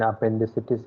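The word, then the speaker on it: apendicitis: That is more like English what you are saying. So let me correct you. So when you say I is pronounced as the letter E of English. Okay, so it is crisis. Okay, so la crisis, and here it will be, and I also told that the letter E of Spanish is pronounced as letter A of English. Okay, so that will be la appendicitis.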